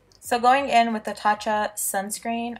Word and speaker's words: Tatcha: going in with the tatcha sunscreen I know I say it wrong it's tasa tacha sorry but I just work